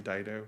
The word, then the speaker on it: Dido: Dido or whatever. How do you say it? Her name Dido.